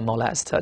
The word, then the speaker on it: molest: 注意它的重音在第二音节啊，叫做 molest。